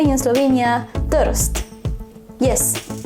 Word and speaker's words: Trst: Or, as they say in Slovenia, Trst. Yes, like that, without any vowels whatsoever. That happens a lot in Slovene. You add some sort of e sound in the middle so that you can pronounce it.